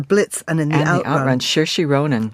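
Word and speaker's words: Saoirse: the out Shi Ronin is that how you say it yeah it's got every single vowel in it s a o i r s e and you say it s I think it's cersi yeah it's Irish um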